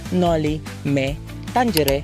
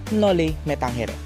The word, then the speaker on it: Noli Me Tangere: with nole me tangere First with its pronunciation scholars and historians prefer to call it no Me Tangere instead of what we all know no metanghere second It's origin Bakit